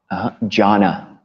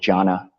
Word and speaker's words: jhana: Jhana. Yeah, that's a Pali word. So it's spelled J-H-A with a line over the top, N-A, jhana.